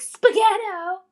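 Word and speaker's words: spaghetto: I'm going to be like, spaghettto. I knew something you didn't rhymes with ghetto.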